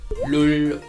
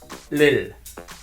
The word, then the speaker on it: 를: Many people pronounce object particle in wrong ways, like 울, 룰, or ol, lol. They are wrong.